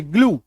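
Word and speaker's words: glue: क्लू बड़ी उकार की मात्रा जी एल यूई ग्लू टी आर you true D ई ड आ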